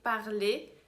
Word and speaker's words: parler: Todos esses verbos de primeiro grupo terminam com ER e a gente no infinitivo fala E no final, porque ER é o som de E em francês. Então, por exemplo, parler termina com ER e a gente fala E parler quando tiver no infinitivo.